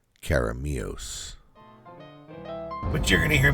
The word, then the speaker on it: Keremeos: is to go out by a place called kirimos for the record I'm completely mispronouncing the name and at some point in this video I will edit in the proper way to pronounce the name caramios caramios but you're going to hear me call it